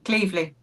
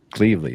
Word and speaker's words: Cleveley: Did I pronounce that right? Almost. Cleveley. Cleveley.